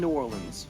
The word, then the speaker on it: Nuorlans: My name is von New Orleans. like the city but not spelled the same.